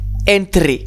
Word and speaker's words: entre: Entre, rien que plus simple, entre. Attention à bien penser que le E se prononce toujours E en espagnol.